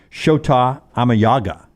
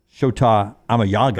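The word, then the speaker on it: Shota Imanaga: thanks to jerbo and the the chat room sha amay Yaga sha amay Yaga that's the actual pronunciation the way he said so I gave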